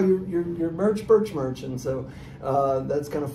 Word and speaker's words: Bertsch: So it's BERTSCH, but it's pronounced just like Birch Sheet Metal.